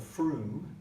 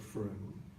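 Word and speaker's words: Frome: through misspelled el faro we're made but it's pronounced prune in 2013 a GP in the township of Froome came to the conclusion that many of her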